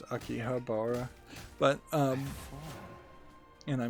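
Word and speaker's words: 秋葉原: go to Akihabara yeah most people pronounce it akibara but actually it's Akihabara but um and I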